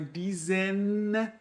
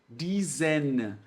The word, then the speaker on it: diesen: Por isso, gente, que é muito importante vocês pronunciarem bem pronunciado o N de nariz. Então, é diesen, né, com a língua lá no céu da boca. E aqui o M, ele você fecha a boca. Né? Diesem, diesen. É diferente a pronúncia, tá?